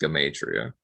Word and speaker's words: Gematria: A lot of people pronounce it Gematria, but I think that's or Gematria. and I still will call it Gematria as well. But it's properly pronounced Gematria.